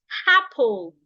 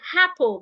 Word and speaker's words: apple: them say something like apple. They would add H to this word. They would say apple. They would say egg. That is wrong. Never add H to words that start with vowel letters.